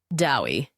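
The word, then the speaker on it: Dewi: Huey Dewey or Louie DOI Bill corrected pronouncing the name to rhyme with Bowie in the approved Welsh manner I think you've got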